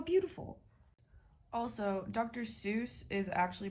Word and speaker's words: Seuss: Seuss is actually pronounced Soy, but for the rest of the video, I'm going to be sticking to the popular pronunciation.